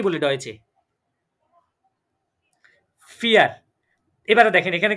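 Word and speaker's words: vier: এবারে বলেন আমরা চারকে কি বলি ডয়েচে ফিয়ার। এবারে দেখেন এখানে কি আমি ফাউ ইয়ার বলেছি?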